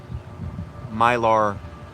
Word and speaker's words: Mylar: And what are these Mylar balloons meant for?